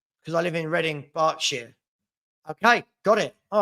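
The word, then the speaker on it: Berkshire: Highline does that scare anybody else um it's pronounced barking mad because I live in Reading bark Shar okay got it all right barking okay um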